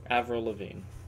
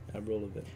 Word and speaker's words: Avril Lavigne: How do you pronounce that? Avril Lavigne. Avril Lavigne.